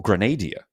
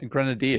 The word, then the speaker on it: grenadier: as we look at our top four Grenaders uh coming on in or Grenadia as it is not pronounced. Scarface at the top with two. You say Grenadia or Grenadier. Well, Scarface is Grenadier than everybody else. Oh, right. I You don't actually say Grenadier, right?